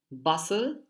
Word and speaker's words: bustle: The next one is bustle. Again, the T is it's silent.